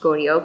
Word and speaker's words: Goryeo: And thanks to May, I pronounced Goryeo correctly.